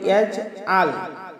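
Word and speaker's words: يَجْعَل: সম্মানিত দর্শকবৃন্দ, এবার দ্বিতীয় আয়াতটি, আলাম ইয়াজআল, ইয়াজআল, এই যে আমরা অনেকে পাঠ করি ইয়াজআল, আইনকে হামজা বানিয়ে ফেলি। এটা আমাদের মারাত্মক ভুল হবে। আমাদের আইনকে আইনের মতো উচ্চারণ করতে হবে।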